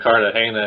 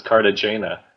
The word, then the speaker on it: Cartagena: The funny thing about them going to Cartagena in Colombia is that people online are making fun of the contestants for pronouncing it as Cartagena. It's like, don't you know that that's not how it's pronounced?